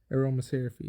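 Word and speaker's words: Aromaseraphy Jasmine: Play 1 Aromaseraphie is how you pronounce it.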